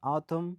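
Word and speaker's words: autumn: اینجا حرف N بعد از حرف M اومد تلفظ نشد.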